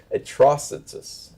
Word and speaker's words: Atrocitus: Atrocitus. Oh, is it like atrocity?